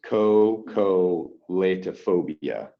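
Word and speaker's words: xocolatophobia: it starts with the next yes but it's pronounced yeah it's cocolate phobia so it's interesting spelling so we'll say x o c o el plato o b uh that's it right there cocolatophobia you see that danny okay yeah kind of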